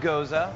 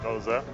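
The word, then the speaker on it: Gose: Pronounced Goza. Goza, folks.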